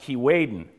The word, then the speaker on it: Keewaydin: And when the north wind starts to blow, and in the language of the people that lived here 300 years ago, it's pronounced Keewaydin.